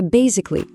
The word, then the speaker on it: basically: On passe à basically. Ah lui c'est le roi du résumé, l'outil parfait pour aller droite au but et dire en gros ou pour faire simple. L'accent est sur la première syllabe.